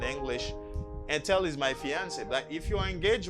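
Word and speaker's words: fiancée: and tell is my fiancee mary is my fiancee same pronunciation but not the same writing memphis because you say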